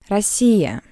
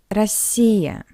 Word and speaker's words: Россия: In an unstressed position, the letter O read as a weak A, like in the word Россия, Россия, Russia, Москва, Moscow.